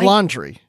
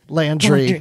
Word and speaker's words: Landry: Quran is that right like like laundry well no it's Landry okay it's I think